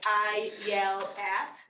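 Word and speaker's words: Ayelet: here at HBS uh the right way to pronounce my name is like I yell at just squished together I yell at um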